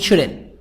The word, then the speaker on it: shouldn't: Notice how the ta in can't, this letter, the T in can't and shouldn't, the sound of T is not strongly pronounced. We don't have stress on can't and shouldn't. There is no stress.